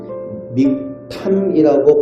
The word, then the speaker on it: 믹탐: 히브리 원어로는 믹탐이라고 발음을 하게 되는데 이 믹탐을 한국식 발음으로 번역을 해서 믹담이라고 쓰고 있습니다.